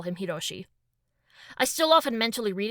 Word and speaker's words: Hiroshi: Hiroshi is his given name, and the kanji for 1, 6, and 4 can be read with the same pronunciation.